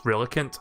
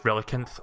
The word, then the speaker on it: Relicanth: I'm assuming the H is silent now, so it's Relicanth, otherwise Relicanth sounds weird.